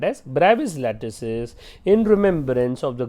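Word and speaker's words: Bravais: and this 14 bright lattices are called as BRABUS lattices in remembrance of the great french physicist and mathematician called as august breve right so this is correctly pronounced as bravi it's he's a French so brings French have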